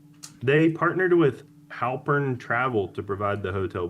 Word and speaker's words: Halpern: You say like Halpert Travel is like Jim from the office. What do you want me to do? Spell it for you. H A L P E R N. Halpern.